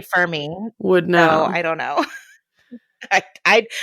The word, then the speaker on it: Fermi: it I don't know I say it f me but that's cuz I'm an American and we pronounce everything incorrectly yeah but also like you are an astrophysicist so I feel like you probably but we all say ferm me so I don't know